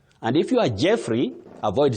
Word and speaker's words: Jeffrey: And if you are Jeffrey, avoid saying Joffrey or Joffrey.